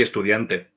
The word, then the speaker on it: estudiante: Pronounce estudiant carefully, emphasizing the N.